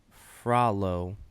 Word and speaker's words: Frollo: And this is according to Google how his name is pronounced. This is Frollo Fuck.